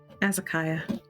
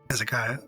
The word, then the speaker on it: Azakiah: I was going to ask, without ruining the reveal, how do you pronounce it? Is it Azakia? Azakiah. Azakiah, yeah. Azakiah, it is Azakiah's handwriting.